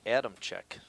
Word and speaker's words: Adamczyk: His last name is spelled Adamczyk, and it's pronounced Adamchuk.